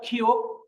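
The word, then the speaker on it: 키읔: এটা হলো খিউক। খিউকের উচ্চারণ খ, ক, আর নিচে বসলে হবে ক। এটা হলো থিউত।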